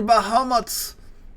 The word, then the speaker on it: Bahamut: like the dude like summons Bahamuto, which is just Bahamut, but that's how you say it in Japanese.